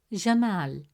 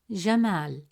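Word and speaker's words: جمال: Fourth example, the word jamal. In the word jamal, meaning beauty, the letter mim has a fatha vowel, which gives it a short a sound, pronounced as ma.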